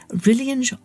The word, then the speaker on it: Rillian: Rillian's Rave Review. Hi, I'm Rillian, rhymes with Lillian.